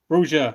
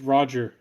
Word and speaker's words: Roja: Nose says you pronounce it as rubber duck. You pronounce it as rubber duck. Its name is Roger.